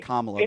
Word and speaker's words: Kamala: It's Kamala, though.